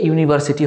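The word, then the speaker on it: university: তো এখানে কিন্তু উচ্চারণটা হচ্ছে ইউ এর মতন।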